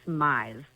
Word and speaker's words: Mize: It's Myes. There you go. as in like maximize, minimize, customize is what I always tell people.